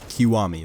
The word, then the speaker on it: Kiwami: I already bought Kimiwa 1, and is that what it's called? Kimawi? I don't know how to say it. I gotta open up Steam here and check. Kiwami, that's it.